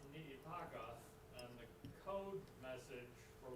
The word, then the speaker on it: Niitaka: The mountain is pronounced Niitaka, and the code message for launching the attack on Pearl Harbor was climb Mount Niitaka.